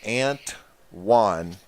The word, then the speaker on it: Antoine: no I and he it's one as in your Mexican friend who wants to go get some dinner with you one so it's aunt one pronounced Antoine and I thought that